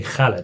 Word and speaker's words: Khaled: It's actually Khaled. DJ Khaled. So pronunciation for us is very easy.